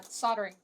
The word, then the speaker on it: soldering: The US doesn't pronounce the L, so it is Yeah, soldering. soldering. Yeah. Like how it's kind of written like solder.